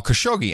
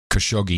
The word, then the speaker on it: Khashoggi: He says, he says the Italians have a lot more fun with the Khashoggi name as they really highlight the cash part of it.